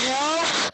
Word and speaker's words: half: The winter was half The L is silent.